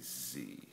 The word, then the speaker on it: Sie: is per Z, and a German S is pronounced as the letter Z.